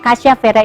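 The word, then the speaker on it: cassiavera: yang saya bilang ini teh casavera bacanya casiavera itu bahasa ilmiah daripada Kayu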